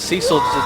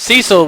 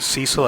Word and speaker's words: Cecil: as number two as Cil trying to construct the sentence Cecil which we I know now is pronounced cesil and I will never call